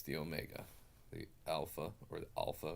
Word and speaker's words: Omega: Omega is au mega so it's the long the long o sound Omega and that's why I